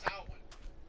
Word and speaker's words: Samhain: For instance, Samhain. Samhain is Halloween. It's on October 31st. Samhain is spelled S-A-M-H-A-I-N, but it's pronounced Samhain.